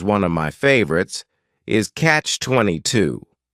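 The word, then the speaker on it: Catch-22: favorites is Catch 22 this is two words it's a compound noun the word catch is just one syllable and then 22 is three syllables and the stress is on that final syllable Catch 22 the word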